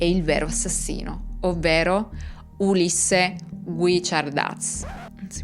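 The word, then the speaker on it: Guichardaz: secondo loro è il vero assassino, ovvero Ulisse Guicciardaz. Si pronuncia così, Elisa, che sarebbe il loro vicino di casa.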